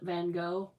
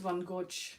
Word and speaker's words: Van Gogh: Louvre and you know Van Gogh that we're pronouncing his name isn't Van Gogh it's he's Dutch and that isn't how you pronounce that I did it it's Bond yeah Van Gogh it's one Gorge yeah it's not yeah I looked up how